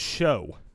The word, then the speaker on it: Shuck: It's pronounced show.